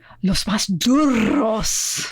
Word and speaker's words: Los Más Duros: You have to roll some R's in there, something. Los Más Duros.